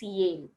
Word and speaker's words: Yale: They have different spellings and different pronunciation as well. It's Yell and it's Yale.